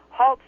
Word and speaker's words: Holtz: Holtz rhymes with waltz.